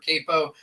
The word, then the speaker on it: Queipo: whatever you want to call it unor Capo it's spelled weird qu i p o i try